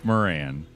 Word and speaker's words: Moran: Moran. That's right. That's how you got to say it like that too. Moran.